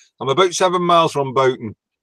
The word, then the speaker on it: Bolton: about seven miles from Bolton not polished at all yeah yeah Paul Paul says it's bolted yeah well we could we call it Bolton volume we actually pronounce the L actually I come from